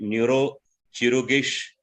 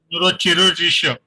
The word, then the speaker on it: Neurochirurgische: Maybe is it Neurochirurgisch Health Indian? Am I right? Neurochirurgische.